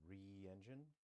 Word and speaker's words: RE Engine: So it's not pronounced Re engine, it's just RE engine.